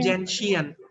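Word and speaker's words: gentian: Sir, जो जेलेटियन जेंशियन नहीं बेटा, एक तो होती है आपकी ग्लेशियल एसिटिक एसिड, दूसरा प्रोनाउंसिएशन जेंशियन.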